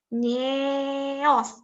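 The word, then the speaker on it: nyéos: Ieu nyeos. Nyeos dibacanya ya, kalau pakai curug nya pada curugnya bacanya nyeos.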